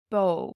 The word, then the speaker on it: bó: Sí, the i fada has an ee sound, long e, sí, tá, sí is 'she Bó means cow has a long o, and it's pronounced like, oh, oh, B And then u fada it's long sound is Ooh.